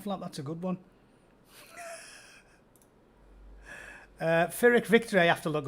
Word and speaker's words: Pyrrhic: Pyrrhic. The Americans say Pyrrhic. It's Pyrrhic. Pyrrhic victory. Not Pyrrhic. Pyrrhic. I'm certain of it.